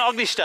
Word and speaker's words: Ognjište: Ognjište. Is that the right pronunciation? Ognjište. Right.